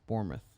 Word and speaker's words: Bournemouth: It's Bournemouth. But I always call them Bournemouth. I know, me too, just because that's how it's phonetically pronounced.